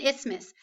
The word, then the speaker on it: isthmus: say that with me it's miss rhymes with Christmas okay what is an isthmus an isthmus is a